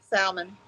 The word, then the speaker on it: salmon: that word d Sal salmon the L silent Ranger just graduated sixth